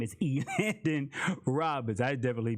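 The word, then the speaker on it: Elandon: for the correct pronunciation of his name is e landon roberts i definitely butchered it up anyway i just kept going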